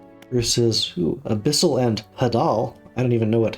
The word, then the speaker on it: hadal: And Hadal, I'll have to look up that word. Neat. Just did a quick research thing. It's pronounced Hydal, and it's even deeper than Abyssal.